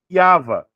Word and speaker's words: Yava: Então, no palio hebraico, como que eu pronuncio esse nome? Yava.